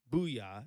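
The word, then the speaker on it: Bouyea: how uh Jamari abuya buoya is how it's said here in the phonetic pronunciation uh spelling there so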